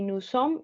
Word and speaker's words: nous sommes: Y aquí nous sommes y estoy eliminando desde la M.